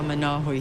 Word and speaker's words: Manawi: I want to ask you about your great-grandfather, Manawi. Am I pronouncing his name correctly? Yeah, Manawi.